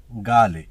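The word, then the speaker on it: غالي: ভিডিওর প্রথম শব্দ হলো দামি দামিকে আরবিতে বলে গালি গালি উচ্চারণটা হবে গালি আমরা অনেকে গালি বলে থাকি গালি না গালি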